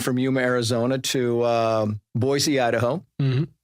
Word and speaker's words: Boise: Yuma Arizona to um Boise Idaho Boise by the way is the proper pronunciation I understand this from the natives yeah yeah right right